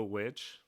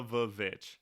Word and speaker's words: VVitch: No, it's always the Vich. Yes. Because if you look at the title, if you look at the cover of it, it's spelled with two V's.